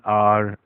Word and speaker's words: hour: इसी तरह से एन आर, HOUR, H silent रहता है।